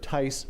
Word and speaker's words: Tice: Councilmember Tice, rhymes with nice.